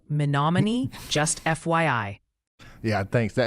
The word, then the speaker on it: Menominee: Oh, and the pronunciation posse is gently suggesting Nevada, Iowa is Nevada, and Menominee is more like Menominee, just FYI.